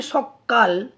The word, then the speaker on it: সকাল: মূল শব্দটা হচ্ছে সকাল, অর্থাৎ সেখানে একটিই মাত্র ক ব্যঞ্জন ছিল, কিন্তু যখন উচ্চারণ করা হচ্ছে সকাল তখন কটাকে ডবল বার উচ্চারণ করা হচ্ছে, মানে দুবার একসাথে উচ্চারণ করা হচ্ছে, তাই এটা হচ্ছে ব্যঞ্জন দ্বিত্ব।